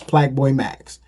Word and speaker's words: Plaqueboymax: Now, is it maybe play and but it's spelled Plaque, so it's Plaqueboymax.